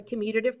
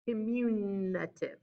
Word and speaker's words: commutative: you guys about the commutative property y'all do not pronounce this community right the numbers do not communicate they just don't they commute they move back and forth so like when i